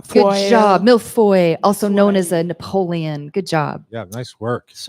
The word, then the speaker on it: millefeuille: My pronunciation will be terrible. That's okay. Mille-fois. Good job. Millefeuille, also known as a Millefeuille.